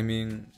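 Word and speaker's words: μι: case that it makes me mad yeah that's my fun fact mu pronounced me in modern greek actually came from the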